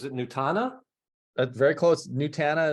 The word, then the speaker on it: Nutana: nutana that's very close nutana is what I say Hannah okay nutana yeah